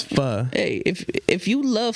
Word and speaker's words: pho: it on me yeah bro don't say foe but that's not how you pronounce it I mean it's fur hey if if you